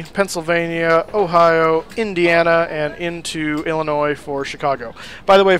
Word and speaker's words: Illinois: who do not know, Illinois is spelled with an S at the end, but it is not pronounced. Do yourself a favor. It will help you sound more intelligent. Do not say Illinois.